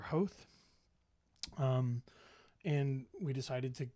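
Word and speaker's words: Howth: wrong I'm sorry but I believe that the pronunciation is house or hoath um and we decided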